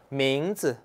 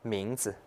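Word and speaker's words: 名字: 그래서 名字. 名字. 보세요. 이성이고 경성이에요. 네, 경성 꼭 주의해야 돼요. 경성 같은 경우는 어때요? 짧고 가볍게 발음하면 되죠. 名字.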